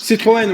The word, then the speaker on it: Citroën: prononce. Citroën, oui, Citroën.